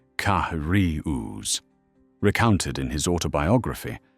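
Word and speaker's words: Carius: One German tank ace, Ottoarius, surname pronounced Kahari, recounted in his autobiography how his crew would intentionally delay until British tankers dismounted before attacking.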